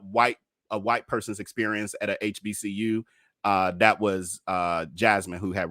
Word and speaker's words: HBCU: I mean, from what I can tell, I knew I was saying it wrong. It's HBCU.